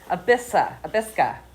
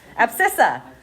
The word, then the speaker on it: abscissa: Right, and there's something specific about the abisca. I'm not saying it right. How do we say it? The hibiscus? Not the hibiscus. Abscissa. That's what it is.